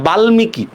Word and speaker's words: বাল্মীকি: যেহেতু মর উচ্চারণ হয়েছে আমরা আর কোনো চন্দ্রবিন্দু দিব না।